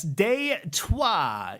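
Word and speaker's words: Détroit: And yes, for those linguistically curious among us, deuah is the French spelling Detroit, pronounced in the old tongue, like you're swearing at your transmission.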